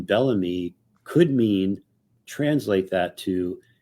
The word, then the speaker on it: Bellamy: you have me or it's spelled here m y but it's pronounced me so m e me is also an abbreviation for Mandela effect so just the name Bellamy could mean translate that